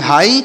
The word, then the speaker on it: high: देखिए HIGH, तो यच से पढ़ेंगे हाँ, यच से क्या पढ़ा जाएगा हाँ, और आई से पढ़ेंगे ई, तो इसे पढ़ेंगे हाई, और यहाँ पर GH साइलेंट है तो इसे हाई पढ़ेंगे। हाई मतलब क्या होता है,